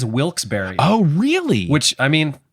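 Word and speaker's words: Wilkes-Barre: But I do believe it is Wilsbury.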